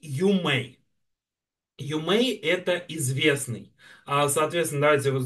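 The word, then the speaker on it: 有名: И, соответственно, да, вот на этом сразу видно, что вот этот вот иероглиф читается как Ю, а это как Мэй.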